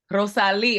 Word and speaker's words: Rosalie: Rosalie, I hope I'm saying it right.